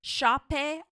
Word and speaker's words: Sope: Her name is spelled Sope. It's her first name, and last name is Aluko. And she says it's Shape Aluko, which is beautiful.